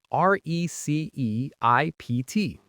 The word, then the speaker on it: receipt: R E C E I P T. But the P is silent.